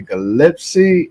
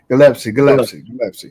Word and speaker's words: Gillespie: joining us, and that is my brother Stony Gillespie. And did I pronounce that right? Yes, sir. You got it. Gillespie.